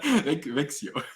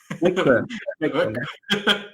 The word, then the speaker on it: Växjö: So I see there's a continuation to this question for the links regarding the housing queues and I cannot pronounce. I'm so sorry. Stefan. Växjö. Växjö.